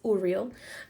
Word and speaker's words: Uriel: to speak today or just say uriel every time i say his name he corrects me because he's like it's uriel um rafael and michael